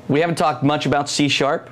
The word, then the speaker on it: C#: Or we would say in England C hash.